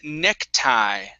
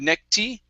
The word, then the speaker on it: necktie: is uh the word necktie okay instead of neck tee okay this is a long i sound necktie necktie okay very